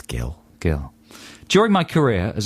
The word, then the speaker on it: Gill: Could be Jill. It's Gill.